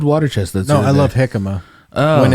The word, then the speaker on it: jicama: No, I love jicama when it's raw. I believe it's pronounced. When it's cooked, it tastes like water chestnuts. I hate it. I believe it's pronounced yikama. Yeah, that's right, yicama.